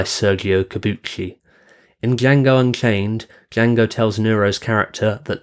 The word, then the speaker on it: Django: In Django Unchained, Django tells Nero's character that the D in Django is silent, to which Nero's character replies, "I know."